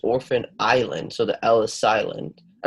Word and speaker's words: Orphan Island: this one is pronounced orphan island so the Ellis Island I mean sorry the S is silent and can you read